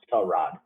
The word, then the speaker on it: Tyrod: a sudden one day he's like yeah it's pronounced tell rod i'm like what the